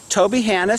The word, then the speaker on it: Tobyhanna: But this is G doing his thing at Tobyhanna. I got to pronounce that right, like Hannah Montana. Tobyhanna State Park.